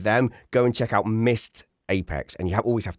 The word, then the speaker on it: Missed Apex: Go and check out Mist Apex." And you have always have to spell it cuz it sounds like Mist like Mi S. You always have to say Mist Apex. M I S E D.